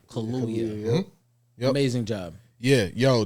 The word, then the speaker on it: Daniel Kaluuya: Let me pronounce it correctly. Daniel Kaluuya. Kaluuya.